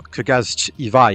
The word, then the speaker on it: Krazy Ivan: Krazy Ivan, or Krazy Ivan if you're going to pronounce it the way it spells itself, is a mech shooter